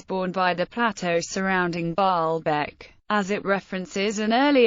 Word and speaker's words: Baalbek: It was pronounced as Baalabaka or Baalabaku in Classical Arabic. In Modern Standard Arabic, its vowels are marked as Baalabak or Baalabek or Baalbek, the latter of which is pronounced Baalbek.